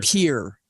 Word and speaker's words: Pierre: if it is French you pronounce as if you are English mispronouncing a French word what's the capital they call it peer here it's it's Pierre it's p-i-e-r-r-e it's literally